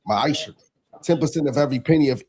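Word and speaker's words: מעשר: chapter 3 verse 8-10 means 10th in Hebrew and it's pronounced maisha 10% of every penny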